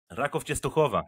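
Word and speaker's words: Raków Częstochowa: Rádek, am I pronouncing it right? Yes, but Matan, I'm impressed that you can say Rákov Częstochowa perfect. Rákov Częstochowa.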